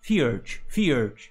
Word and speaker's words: Fjurge: That's the word, right? Fjurge, that's the one. I keep having the urge to say the urge, but that's not how it's said.